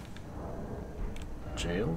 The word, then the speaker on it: Gaol: So we are here in the jail cave? That's how it's pronounced.